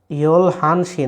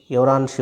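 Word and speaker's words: 열한 시: ইয়লসি, আর 11টা বললে ইয়ল হানসি না ইয়রানসি, ইয়রানসি উচ্চারণটা মনে রাখবেন, হ্যাঁ।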